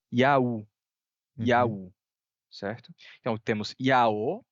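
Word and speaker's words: Ιαου: Nesse caso, a gente tem aí a transcrição, a transliteração de uma pronúncia que seria Yaú, Uhum.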